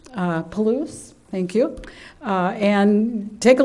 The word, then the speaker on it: Palouse: They're photographs of, I believe it's pronounced Palouse or Palusi. Palouse, thank you.